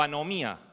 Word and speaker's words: anomia: nuevo testamento Lee iniquidad la palabra es anomia o anomía para los que quieren pronunciar bien el griego y qué es esto de qué es esto de anomia Qué significa anomia a